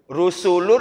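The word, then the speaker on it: رسل: Rusulun atau rasul kayaknya masih sama aja.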